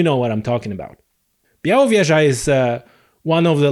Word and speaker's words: Białowieża: know what you know what i'm talking about biauro vieja is uh one of the last and the